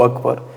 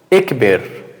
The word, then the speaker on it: Akbar: Tu falar incorretamente é tu falar assim, Allahu Ekber.